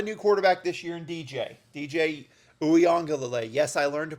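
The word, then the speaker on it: DJ Uiagalelei: But, I mean, look, you have a new quarterback this year in DJ Uyongalele. Yes, I learned to pronounce the name.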